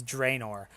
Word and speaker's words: Draenor: oh, He persuades you that he convinces you that it's Draenor. That being said, however you pronounce it with your accent might just be the way you can say it properly.